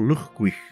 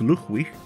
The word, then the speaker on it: Llugwych: of real-world Celtic origin, especially Welsh, with its use of the double L, making a ch noise.